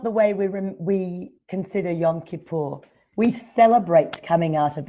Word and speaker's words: Yom Kippur: that you that the Jewish tradition observes on Yom Kippur if I remember correctly do I pronounce it correctly Yom Kippur correct tenth of that yes and Mohammed when